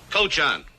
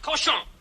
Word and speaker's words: cochon: This barn is not fit for man nor coach on. Butcher. Better to spend the time killing the roaches in your plague-ridden bistro than murdering my rhymes. The word is pronounced cochon.